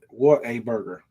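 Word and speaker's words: Whataburger: Well, let me let me let me say it right. Like the North Carolina people likes it. What a burger.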